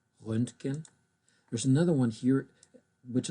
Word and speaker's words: Röntgen: In fact, this one is a short umlaut. Instead of Ö, it's an Ö, Röntgen.